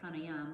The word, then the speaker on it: pranayama: or vital life energy and the pranayama we actually pronounce it pranayama the pranayama practice is